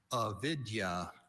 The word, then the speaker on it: avidya: Avidya. Are there any alternate pronunciations?